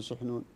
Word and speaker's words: سحنون: لأن عند أهل اللغة الراجح هو الضم، لأن سحنون هو في اللغة هو اسم لطائر حديد البصر، فشبه به سحنون لقوة عريرته وسرعة ذهنه حدة ذهنه، فهو من ناحية اللغة الصحيح هو ضم السين سحنون، والفقهاء ينطقونه بفتح السين.